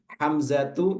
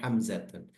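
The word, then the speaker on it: حمزةُ: enggak boleh fatimatun gitu hamzatu enggak boleh juga hamzatun nah ini isim-isim yang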